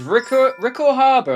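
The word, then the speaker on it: Ricco Harbor: So this is Rickor Harbour, I believe it's pronounced.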